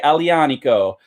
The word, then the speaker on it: Aglianico: want to call this agggghhhhh Liana Co that G is a soft G when you pronounce it so it's more like a wise thank Ali ah Nico from mandola vineyard in